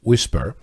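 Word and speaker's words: WSPR: you first of all WSP are pronounced whisper is a way of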